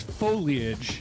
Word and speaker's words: foliage: Is it foliage or foliage? It's foliage. Foliage. It's three syllables.